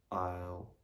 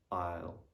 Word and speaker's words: isle: silent as well um the letter s is normally not going to be pronounced when it comes just before the letter l say for example in the word island isle island and isle also there are some